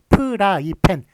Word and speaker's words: 프라이팬: 표기법 이에요 자 그래서 우리가 후라이팬 이라 그러나요 프라이팬 이라고 한하여 발음 할 땐 후라이팬 m 그렇지만 쓸땐 어떻겠습니까 프라이팬 이렇게 써 줘야 받는 거예요 예 그래서